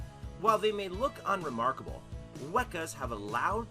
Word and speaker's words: weka: fur cakes number three weka it sounds like weaker if you pronounce it wrong but trust me this bird is far from weak the weka is another bird of